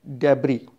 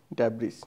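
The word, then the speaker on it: debris: It's that डेब्री, नॉट डेब्रिस.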